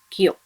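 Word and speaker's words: きょ: And when ki joins with yo, small yo, should be pronounced as kyo.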